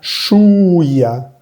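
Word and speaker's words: chouïa: Cuando veas la I con dos punticos, que sucede muy pocas veces en francés, vas a pronunciar bien esa I. Shuya. Y la OU suena U. Shuya. Esta OU la vimos anteriormente en el primer renglón.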